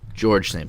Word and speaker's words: Georges: George St. Pierre. George. His name's pronounced Georges.